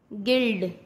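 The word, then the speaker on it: guild: यू कब silent होता है? जब यू के बाद कोई वॉवल्स हो तब यू साइलेंट होता है। वॉवल्स क्या? AEIOU। अगर ये यू के साथ आते हैं तो यू साइलेंट हो जाता है। जैसे गाइल, गिल्ड, गिटार।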